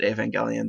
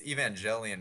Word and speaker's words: Evangelion: see yeah um lots of oh I I pronounced it aelian that is me uh it's Evangelion right is that is it oh it's Evangelion